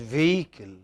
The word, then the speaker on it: vehicle: Yeah, this H is not pronounced. It is vehicle.